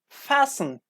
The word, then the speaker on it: fasten: st en and doesn't contain tea for example fasten fasten fasten yes fasten your seatbelt man you